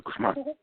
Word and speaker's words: Guzman: On the second syllable, but doesn't have to have like a Spanish accent or anything. But this is as always, color commentary from attorney Guzman.